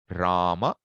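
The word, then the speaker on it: Rāma: So if I say Rama, Rama, that a should show.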